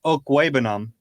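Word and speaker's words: Okwuegbunam: tight end Albert oh uh Oak webinum is how you pronounce his last name he also has a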